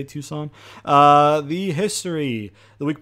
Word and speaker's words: Tucson: give us to play tucson arizona i think is how you say tucson uh the history the